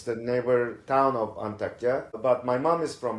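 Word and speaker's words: Antakya: And and yourself, you are from and I'm sorry if I pronounced it incorrectly, but you are from Antakia.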